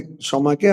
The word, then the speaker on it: ক্ষমা: ওই বাংলাতে ক্ষমাকে আমরা ক্ষমা উচ্চারণ করি।